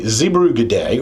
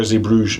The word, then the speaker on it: Zeebrugge: Now, we got some explaining to do because um today is actually Zebruay or Zebruge, depending on if you're doing the French or Dutch pronunciation.